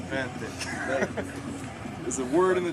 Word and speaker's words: Benthic: And Benthic, for those of you who pronounce it Bafnit, it is Benthic.